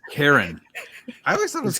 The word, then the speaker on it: Karen: It's Karen. I always thought it was Kieran. No, it's not Kieran. It's specifically spelled Karen.